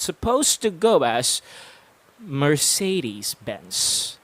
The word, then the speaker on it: Mercedes-Benz: get this accurate it's supposed to go as mercedes-benz say that for dude one more time mercedes